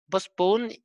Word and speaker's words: postpone: بوسبون التي لا تنطق غالبا، اللي هي يلغي.